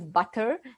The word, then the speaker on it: butter: English, it is found where the letter T sounds like a D. Example is butter, as we pronounce it butter, but they pronounce it more like a butter.